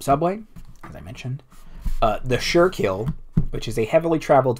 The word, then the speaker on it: Schuylkill: go anyway but the Schuylkill so it's the surekill also try and spell